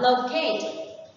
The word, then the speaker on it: locate: The second one, locate. Locate is a verb and the stress is on the second one.